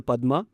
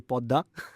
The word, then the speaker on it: Padma: Because it is changing trajectory, it is going closer to this river called the Padma, which Bengalis can't pronounce, so they say Podda.